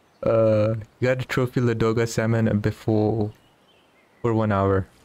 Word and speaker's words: Ladoga: doing too well at la doga and it is ladoga not laduga's mispronouncing it even though i prefer